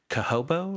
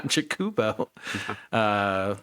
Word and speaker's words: Chocobo: Like, can I build a Chocobo deck or a Cahobo or Chocobo? Jakubo. Yeah, Chocobo. We've heard a lot of like really weird pronunciations, which I mean we've done a lot